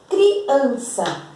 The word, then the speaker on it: criança: Criança, a sílaba tônica de criança, ó, criança. Por exemplo, se fosse o sa, nós íamos ler assim, criança, criança. Não é criança que nós dizemos criança. Então, a sílaba tônica de criança é an.